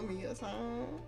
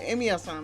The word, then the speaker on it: Emiya-san: My name is Mia-san. Hold on. Oh, it is my son. No, Emiya-san, my bad. Yeah, I said it wrong. Emiya-san.